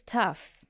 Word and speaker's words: tough: So we have it being pronounced as uf in tough, like cough as well, right?